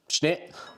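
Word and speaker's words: Schnitt: So the Schnit, pronounced Schnit, has 2 parts beer, 3 parts foam, 5 parts fun, 1 part empty space at the top of the glass.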